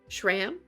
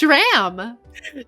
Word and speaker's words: Schramm: Schram rhymes with ham.